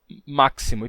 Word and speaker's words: máximo: Bem, aconteceu que em máximo e próximo, a gente perdeu esse som do k, ficou máximo e próximo.